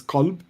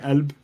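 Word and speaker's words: قلب: The correct classical Arabic translation is qalb with a hard K. In the Levant, where I'm from, it's a glottal stop, so we'd say Elb. Gulb is how you'd say it in the Gulf, so that's also a valid pronunciation.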